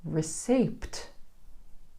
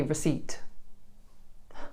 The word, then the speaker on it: receipt: For example, this is not receipt. Receipt. It's actually receipt.